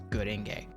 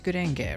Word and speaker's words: Gurenge: I'm going to be checking out today is Gurenge. It's Gurenge, right? Like at least the way it's spelled in English, but from Google, Gurenge. that doesn't sound like Gurenge.